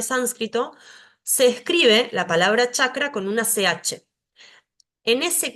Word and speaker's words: chakra: por un lado tenemos esta letra que para nosotros es una c pero para el sánscrito es cha se pronuncia como nuestra ch Entonces si vemos escrita la palabra chakra vamos a ver que si yo no supiera sánscrito y estuviese leyendo esto diría kakra muchas veces para facilitar el entendimiento